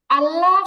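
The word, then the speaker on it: الله: বা দাতের মাটিতে লাগতেছে কিন্তু যখন আল্লাহ বলি আল্লাহ যখন বলব তখন যেহবার আগাটা মানে আগার সেই ছোট্ট অংশটা আগার সরভাগটা চিকন অংশ এটা লাগবে দাঁতের আগায়। আল্লাহ তখন দাঁতের গোড়া লাগবে না। আল্লাহু আল্লাহু উচ্চারণের খুবই সূক্ষ একটা পার্থক্য।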